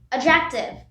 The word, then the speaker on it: adjective: Here, the D and J are pronounced as J. We don't say adjective. We say adjective. Means the D is silent, like how we pronounce bridge. We pronounce bridge like we don't pronounce bridge. We say bridge. Similarly, we say adjective and not adjective.